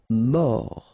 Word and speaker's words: mort: Mort. Final T not pronounced. O-R, or.